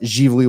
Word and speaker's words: Ziveli: They're open Saturdays and Sundays from noon to 5, spelled Ziveli, like Zavelli. It's pronounced Givoli Winery.